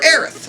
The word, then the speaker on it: Aerith: The funny part is that neither pronunciation is technically wrong in a sense. It's just a translation issue, because according to my research, they pronounce it Aerith in Japanese, but when you translate it to English, it's supposed to be Aerith, because they're trying to say, a take on the word Earth, sort of, but they say it Aerith in Japan.